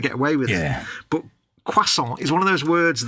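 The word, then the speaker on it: croissant: of those words that if you try and say it just as an English word it doesn't work because there's we don't know how to pronounce as an English word is it cant C we can't do the cro it just doesn't CI doesn't work to an English man yeah so we have to pronounce it the French way but then most people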